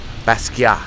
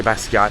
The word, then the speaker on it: Basquiat: that defied character characterization you don't have to pronounce the T at the end it's he was Haitian his parents were Haitian so it's a French pronunciation of his name uh Basia but people say basat